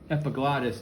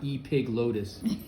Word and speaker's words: epiglottis: And it is pronounced epiglottis, not e-pig lotus.